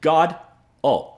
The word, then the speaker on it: Godot: You pronounce it God. Oh, so this is actually